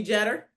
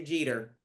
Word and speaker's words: Jeter: Uh Jeder of Jeder Promotions. Uh so the first thing that we want to get squared away here is that everybody calls you Jeter.